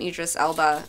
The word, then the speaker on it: Idris Elba: Let's get some Idris Elba.